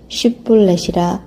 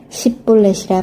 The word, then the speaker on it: 쉿볼렛: 그가 만일 아니라 하면 그에게 이르기를 쉿볼렛이라 발음하라 하여 에브라임 사람이 그렇게 바로 말하지 못하고 십볼렛이라 발음하면 길르앗 사람이 곧 그를 잡아서 요단강 나루턱에서 죽였더라.